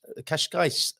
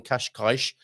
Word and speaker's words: Cascais: talking of pronunciation uh let's let's say kashgar qashqai rather than qashqaish or qashqai or many of the other ways people pronounce it as we welcome on